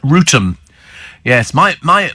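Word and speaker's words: Wrotham: there uh we have Ram in Kent says Steven Maidstone pronounced rotum yes my my pronouncing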